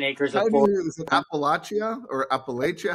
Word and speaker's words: Appalachia: Is it Appalachia or Appalachia?